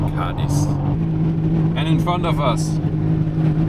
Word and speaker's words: Cádiz: Puerto Real, Cadiz, or Cadiz. So the accent is on the A, so I think it is spelled Cadiz.